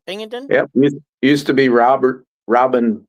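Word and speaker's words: Pingeton: Pingleton?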